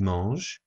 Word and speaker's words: mangent: Ils mangent. The N and the T are silent, so we just hear the E sound at the end.